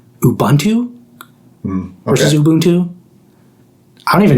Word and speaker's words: Ubuntu: How do you spell the operating system Ubuntu? I say Ubuntu. I also say Ubuntu. I know there's some controversy around it. I think people say like Ubuntu versus Ubuntu.